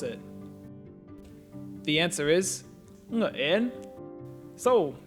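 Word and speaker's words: Nguyễn: How do you pronounce it? The answer is Nguyen.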